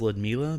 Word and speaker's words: Ludmila: I know it's pronounced Ludmila because of the girl on the Chernobyl HBO series.